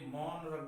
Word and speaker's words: monarch: Okay, तो dear student आपको क्या ये मोनरक बोलेंगे, इससे मोनरक, ठीक है, मोनरक होता है।